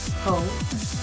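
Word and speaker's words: Haux: Faux, which is spelled H-A-U-X, and it's actually a nice mauve color, great for transitioning.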